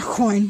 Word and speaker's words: Aucoin: or kevyn aucoin but i know you guys pronounce it a quan most times people on youtube that's it that way but around where I live that that name is pronounced coin but whatever i'm pretty sure it's a quan that was how he pronounces his so we got a